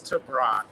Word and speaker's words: Tebrake: I mean, it gets butchered all the time, so don't do that, but it's Tebrake. Okay, Tebrake.